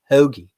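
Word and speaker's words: hoagie: candidates are is fun let's everybody learn how to correctly say hogi like a Phil is ho hogy hogy hogy hogy that's how you say it Philadelphia don't even get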